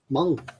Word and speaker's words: Hmong: on a side note apparently Meng is correctly pronounced Hmong Mong but if we said Hmong nobody know what we talked about so yeah I stand